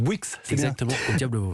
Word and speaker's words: Bouix: Alfy donc c'est bien ça de Christopher Bouix prononce Bouix merci Nicolas Caro à demain et Louise Goua